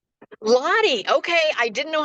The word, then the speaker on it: Lodde: Lottie. Lottie. Okay, I didn't know how to pronounce.